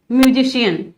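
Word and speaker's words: musician: किसी किसी वर्ड में सी के बाद आई ए ई ए होने पर सी का प्रोनाउंसिएशन श हो जाता है, जैसे सोशल। अब यहां पर क्या है, आई ए है ओशन, ये है म्यूजिशियन, देखिए यहां पर आई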